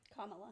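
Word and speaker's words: Kamala: He made fun of Kamla Harris for am I did I say her name right? Kamla.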